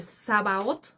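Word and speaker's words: Sabaoth: Este, así aparece Sabaot, así se escribe s a b a o t h.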